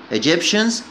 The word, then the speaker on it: Egyptians: Egyptians مصريين، Egyptians طبعا تي اي هنا نطقها شه، تي اي شه.